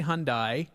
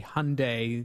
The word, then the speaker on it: Hyundai: it and i say hyundai because that's how i pronounce it when i was in england uh but it's actually hyundai they want it pronounced with like hyundai sunday uh this is an